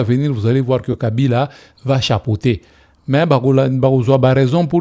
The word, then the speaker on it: Kabila: Il ne savait même pas prononcer son propre nom Kabila mais il dit Kabira.